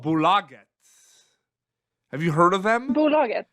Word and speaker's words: Bolaget: I didn't pronounce it properly the first time, but now I know it's Bolaget.